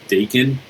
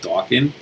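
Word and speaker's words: Daken: is the son of Wolverine most of you pronounce it daon but it's actually pronounced Doan um that is uh x23 that's a good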